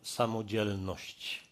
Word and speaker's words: samodzielność: It's a word that we call samodzielność, with a particular accent on the second part of the word, that I'm personally brave.